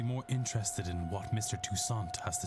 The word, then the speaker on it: Toussaint: Oh, we pronounce all of his letters? I thought he was French. So it was like Mr. Toussaint. And then you just drop those last 3 letters.